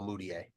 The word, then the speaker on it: Mudiay: No, I'm just giggling to myself that Stanley Amudier rhymes with Emmanuel Mudiay.